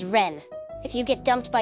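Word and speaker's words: 恋: love shiitsu means lose the kanji for koi can also be pronounced as Ren if you get dumped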